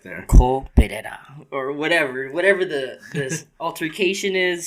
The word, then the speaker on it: Perera: It's Perera. Perera. Yeah, Perera. Perera. Okay. Or if you want to throw some accent in there, Perera.